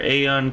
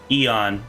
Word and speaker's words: Aeon: can finish up our aeon quest eon excuse me eon quest still gotta get used to saying that now that i know that i was saying it wrong anyways definitely appreciate you